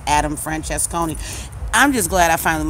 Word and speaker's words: Francesconi: When it comes to just straight out lacing the tables, it's Adam Francesconi. I'm just glad I finally learned how to pronounce the man's name.